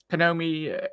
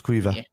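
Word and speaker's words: Caoimhe: Panomi O'Neill, I've probably butchered that, so apologies. Quiva O'Neill, is it, Kev? It's like the female version of Quivine, so it's Quiva.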